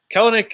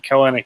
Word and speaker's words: Kelenic: Dakota cool uh no kelnick is excuse me kelnick we had a pronunciation squabble the other day but okay so tell me uh everyone keeps saying kelenic it's Kel Nick two syllables um long story short